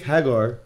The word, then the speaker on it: Haggar: have guy over there you can pick Haggar or Hagar however you want to say his name Haggard and then